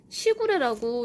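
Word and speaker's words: 時雨: 그래서 그 시구레가 보니까 시간 할 때 시자를 쓰고 거기에 이제 그 비 할 때 우자를 써가지고 시구레라고 읽더라고요.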